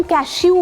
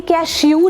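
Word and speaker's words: cashew: तो I know बहुत दिल करता है कि हम कैशू बोले इसे लेकिन ये कैशू नहीं है। ये कैशू है। शू शू नहीं शू।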